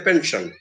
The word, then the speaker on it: pension: Similarly, words ending in S-I-O-N or C-I-O-N, they are stressed on the syllable before that. So let's say pension. Pension, S-I-O-N. The syllable before that, preceding that S-I-O-N, is pen, P-E-N, pen. So that sound that gets accented, pension. He gets a pension.